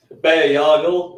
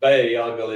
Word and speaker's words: Bayargle: So Bayargle is how I pronounce it.